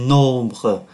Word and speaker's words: nombres: tiêu khiển, les nombres, M đứng trước B, phát âm là N, les nombres, các con số.